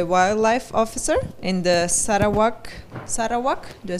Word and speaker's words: Sarawak: is today a wildlife officer in the Sarawak Sara walk do I say it correctly yes forestry Corporation